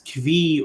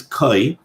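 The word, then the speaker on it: כוי: Some people pronounce this Kvi or Kevi. I think the proper pronunciation is Koi.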